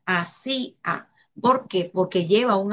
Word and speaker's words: hacía: Por ejemplo, en hacía tampoco hay diptongo. ¿Por qué? Porque separaríamos la la sílaba cia, ¿verdad? Va separada y sería ahí esa palabra hacía, estaría dividida en tres sílabas, hacía.